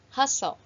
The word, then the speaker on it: hustle: and then hustle hustle remember letter T is a silent letter hustle busy noisy activity of